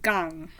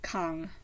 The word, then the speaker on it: Kang: The name is spelled Kang, but the narrator, who sounds like she knows what she's talking about, says it more like Gang, not Kang, which makes sense.